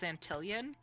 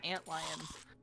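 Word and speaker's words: antlions: Um, when Gamer and I first saw that written out in Grounded, we read it as Antilian and then at some point we just started saying it correctly as ant lions.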